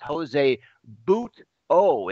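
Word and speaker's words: José Butto: It's Jose Buto is how you pronounce it.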